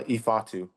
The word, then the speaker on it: Ifeatu: Thanks, Eatatu. Uh, Eatatu. Yeah. Yeah. Yeah. You're good. I'm like the pronunciation guy. I keep everyone in line. Yeah. No, you're good. Yeah. You just You can call me either way, too. Either one is fine.